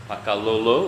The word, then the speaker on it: Pakalolo: all right well now I have come to pakao is that how you would pronounce it yeah Paka pakao it means uh